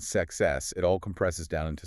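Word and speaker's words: sechs: It's pronounced sex. Sounds like ze. But the mechanics are interesting here. The S at the start is soft like a buzzing Z, but the KS in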